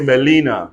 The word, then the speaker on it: Gmelina: Not only GN together, GM too, right? Yes. Look at this word. GMELINA. Everybody say Melina.